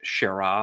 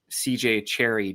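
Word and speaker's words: C. J. Cherryh: Apparently, for the record too, because I used to think it was like Shara or something, but the H is silent because her publisher thought that CJ Cherry didn't sound enough like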